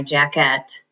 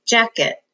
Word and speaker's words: jacket: at check it and we don't say I need to put on my jacket we say jacket and the first syllable has the accent ok one more will